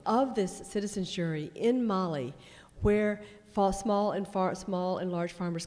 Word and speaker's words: Mali: Mali, as in the girl's name, Mali.